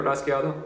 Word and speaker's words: rasgueado: Or you can even use the word rasgueado. Rasgueado, rasgueado. And that's 4 syllables, and that can help you keep track of your 16th notes.